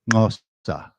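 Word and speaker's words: Xhosa: The Zulu language, actually Nelson Mandela's first language is spelled Xoso, and it's pronounced with a tongue click. Ngosa.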